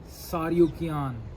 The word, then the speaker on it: Tsarukyan: कीन के बीच में अरमान सारु कियान इस तरह के कुछ नाम है टी साइलेंट है और बनिल ार बिल्कुल